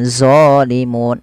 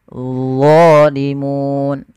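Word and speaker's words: ظَالِمُونَ: Kemudian zalimun, hati-hati jangan dibaca dengan zalimun. Ini sering terjadi, mengganti dha dengan zo. Nggak ada sebenarnya, harusnya dha. Bagaimana lidahnya? Lidahnya untuk menyempurnakan, dia mirip dengan zal, tapi pangkal lidahnya terangkat, dan dia punya sifat namanya idbaq, melekat ke langit-langit lidah kita. Dha. Maka zalimun. Ya.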